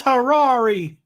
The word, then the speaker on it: Harary: It's spelled Harary. Franz Harary? Franz Harary. And he Oh my God! It's Franz Harari.